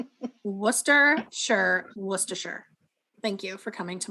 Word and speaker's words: Worcestershire: correctly uh it is spelled Gloucester it is pronounced Gloucester also guys it's Worcestershire sauce in case you're wondering no more of this Worcester Chester Worcester sure Worcestershire thank you for coming to my TED Talk